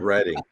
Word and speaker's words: Reading: Yeah, but that's spelled like reading, right? But it's called Reading.